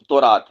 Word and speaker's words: تورات: الٹا لیتے ہیں، نہیں، توریت بھی بول سکتے ہیں، یہ ایک لہجے کا مسئلہ ہے، اور تورات بھی بول سکتے ہیں۔ تو تورات، اب یہ تورات میں